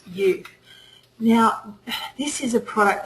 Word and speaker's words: Uth: UT U but it's it's actually pronounced youth now this is a